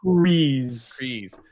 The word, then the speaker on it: Kryze: Kryze.